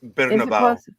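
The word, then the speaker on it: Bernabéu: next season at iconic oh lovely try to pronounce this bnab bernabo Stadium that's actually close it's babau okay uh the league announced uh Friday the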